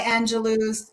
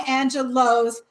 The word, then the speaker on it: Angelou: director who produced maya angelou's um is it new or low i always say it wrong it doesn't work it's in high and low high low you told me that okay you produced